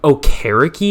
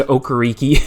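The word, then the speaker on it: Okereke: DeForest Buckner Stefan Gilmore Bobby o'chariki is how you say it I guess that makes sense but I've always just said okariki because it's a fun name to say Grover Stewart and obviously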